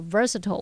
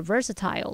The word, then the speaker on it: versatile: 我已经做好工作面试的准备了。好，那么课文句子它还有用到 versatile 或是念作 versatile 来描述多才多艺的。我们来补充它的字根，看到 vers 和 vert